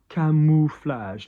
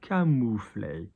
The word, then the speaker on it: camouflage: TEINT, IDOLE, again, camouflage. Now, camouflage is a French word. It's from the verb camoufler, camoufler. Notice the OU going down. But it's an English word as well, isn't it? Camouflage. Camouflage, okay?